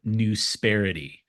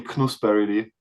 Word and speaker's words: Knusperity: It's actually knusperity, but it's not an actual word. It's a made up word. Yeah. Okay, But fair that's fair funny. enough. Yeah. With the K not being said out loudly.